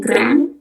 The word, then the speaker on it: grand: Lalu yang selanjutnya ada tulisannya grand huruf D terakhir itu enggak dibaca. Dalam bahasa Prancis artinya sendiri itu besar eh big gitu. Tapi cara bacanya gak gitu bacanya.